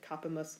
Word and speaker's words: capimus: Accents on different syllables. Capimus versus audimus.